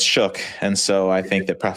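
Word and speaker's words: Shough: So, it's show shu or I love Shook. Yeah. No, it's Shook.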